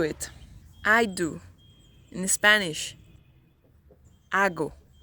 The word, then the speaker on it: hago: Ago. Ago. The H here doesn't have any sound.